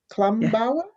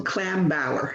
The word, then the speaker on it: Klambauer: Patricia Klumbauer? Yeah, close to Klambauer, yeah.